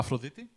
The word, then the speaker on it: Aphrodite: Like, the other day, I was going to go to Afrodite and grab, like, a little sandwich. To where? Oh, sorry. I keep forgetting. Sorry, it's a Greek bakery. Okay. What's the name of it? Aphrodite.